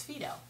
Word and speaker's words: Phyto: you should call it phto. But the lady in Sephora corrected me and the correct pronunciation is Fido.